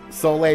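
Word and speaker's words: Soleil: about soay oh yeah the fact that her name is pronounced soay not so sorry so from Animal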